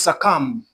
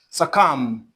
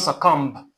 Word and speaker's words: succumb: Now, this is succumb. succumb Not succumb. suh cumb succumb The B here is not pronounced as well. It is silent.